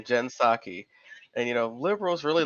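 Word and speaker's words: Psaki: are pretty happy about her yeah it's a jinsaki that's her last name jensaki and you know liberals really love her because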